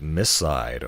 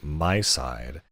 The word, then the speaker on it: MiSide: today I'm looking at Miss side or as I think it should be pronounced my side so uh this is